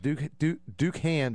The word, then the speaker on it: Dookhan: Ducan, which is spelled Dookhan, lied about even having a master's degree in chemistry.